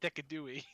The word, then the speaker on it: Decidueye: And Decidueye is pronounced Decadooey.